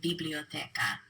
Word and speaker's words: biblioteca: So if you take a look at the line of words that begins with biblioteca, listen to how I say these words. Biblioteca, biblioteca. The stress is on the te.